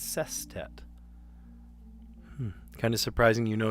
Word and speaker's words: sestet: It's not sextet, it's sestet.